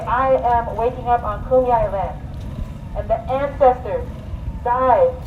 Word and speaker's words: Kumeyaay: I can correct people when they say Kumeyaay wrong. Kumeyaay. I'm going to poke you in your eye if you say it wrong.